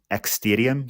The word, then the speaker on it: Xtadium: I kept saying the app because I don't really know how to actually pronounce it. It's Xtadium, so Xtadium.